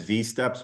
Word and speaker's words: wsteps: You may hear some people refer to that as V-steps, because that's how the Swedish people pronounce the W.